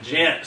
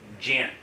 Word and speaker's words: Ghent: So Yeah, it's Jent. Ghent, sorry. No, you're fine. You're But fine. it's spelled G-H-E-N-T.